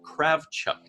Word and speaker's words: Kravchuk: last name it's actually it's directly transliterated into english therefore it you know you pronounce it according to the rules of English language Socratic is perfectly fine